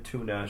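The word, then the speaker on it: Túna: And names like Hurin, Turin, Tuna should be pronounced U. So, tuna. So it is tuna.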